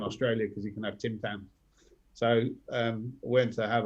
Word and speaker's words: Tim Tams: ordered about a month ago from amazon uh tim tams yeah love them nice am i saying it